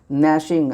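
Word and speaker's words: gnashing: नैशिंग, आप ध्यान से देना, ये नैशिंग मत पढ़ना, नैशिंग, जी साइलेंट है इसमें, इसका हिंदी होता है पीसना।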